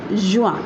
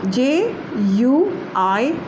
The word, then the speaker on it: juin: June is juin, Juin, juin.